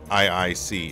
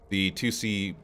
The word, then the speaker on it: IIC: It's pronounced 2C, but it's using Roman numerals, so it is the letter I. But yeah, I sometimes hear people saying IIC.